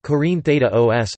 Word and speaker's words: Κόρινθος: Corinth, Greek, Corinthos, Corinthos, pronounced Corinthos, listen, is an ancient city and former municipality in Corinthia, Peloponnese, which is located in south-central Greece.